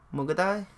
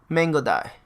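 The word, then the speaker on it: Mangudai: Mugadai? Mangodai. Okay, that's how you pronounce it.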